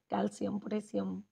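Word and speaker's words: calcium: है और हम कम बोलते हैं कैल्सियम पोटेशियम सिम नहीं होता कम कैल्सियम इस तरह इसकी एक्चुअल प्रनंसीएशन है नेक्स्ट इस 66 नंबर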